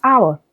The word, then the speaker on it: hour: Option A, we have hour. Do not forget the letter H in hour is silent.